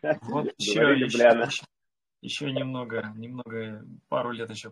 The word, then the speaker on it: Любляна: А ты как-то некрасиво называешь. Ударение ставишь некрасиво. Вот еще Любляна.